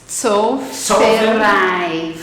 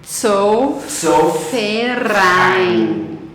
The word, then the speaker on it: Zollverein: Eu acho que é Zollverein. Porque V tem som de F. Peraí, E de Z novo. tem som de T. Fala de novo. Zollverein.